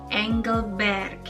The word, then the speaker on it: Engelberg: Jadi terkadang masih banyak orang yang menyebutkannya seperti Engelberg, yang sebenarnya lebih tepat dibacanya itu Engelberg.